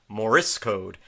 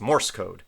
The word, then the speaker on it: Morse: my wife informed me I was saying that wrong I kept putting an extra uh vowel in there I kept on saying moris code but it's Morse code not moris code so if I mispronounced